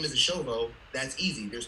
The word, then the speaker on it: Eshovo: So my name is pronounced Eshovo, Eshovo, and Oh.